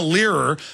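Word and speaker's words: Lehrer: this rhodes scholar jonah leerer how do you pronounce that l-e-h-r-e-r yeah jonah leerer this rhodes scholar this cecil rhodes openly wrote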